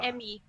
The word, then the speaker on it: Emi: Emi. Yeah, Japanese is all phonetic. I is always pronounced E. E is always pronounced A.